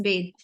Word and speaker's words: bathe: So it is bathe.